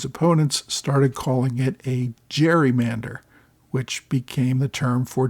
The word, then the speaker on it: gerrymander: and his opponents started calling it a gerrymander, which became the term for districts that are drawn in weird ways to benefit an incumbent or a particular party. So gerrymander uses a soft G while the person for